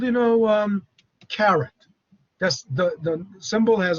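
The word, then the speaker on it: caret: that is um that's called you know um carrot that's the the symbol has a name carrot uh it's pronounced like you know uh carrot the uh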